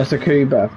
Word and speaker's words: Tsukuba: I don't know if I'm pronouncing it right, but Tsukuba? I think it's Tsukuba, isn't it? Oh, Tsukuba. Oh, I butchered that last night then.